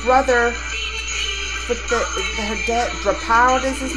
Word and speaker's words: Draupadi: That's how you say her name, Draupadi.